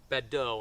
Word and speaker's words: Badeau: advantage of Grant was a former General Adam badeau I hope I'm pronouncing his name right b-a-d-e-a-u um he basically